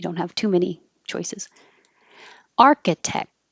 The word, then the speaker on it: architect: Architect. I don't say the K, but my tongue goes to the K position and then touches the top of my mouth completely to stop the airflow.